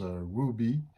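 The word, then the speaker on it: Rebbie: Je crois qu'en anglais on prononce Ruby.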